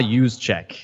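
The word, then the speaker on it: Juszczyk: do you just juice it's Kyle use check that's right everyone just orange juice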